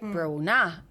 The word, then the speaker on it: Bronagh: And he was like, so, and I went, yeah, it's a silent G. You don't pronounce the G because it's a soft sound. The right, Bronagh.